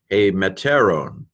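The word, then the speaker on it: ἡμετέρων: Mu epsilon tau epsilon rho omega nu, hey meteron.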